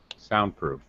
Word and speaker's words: soundproof: Can you tell which syllable is stressed? There's only two. Soundproof.